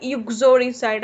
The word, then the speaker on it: uxoricide: Uxoricide, आप वहाँ पे like stress किसके ऊपर देना है? U के ऊपर, इसको आप ऐसे ही pronounce करना।